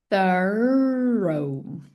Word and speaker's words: thorough: Aqui a gente vai pronunciar thorrow.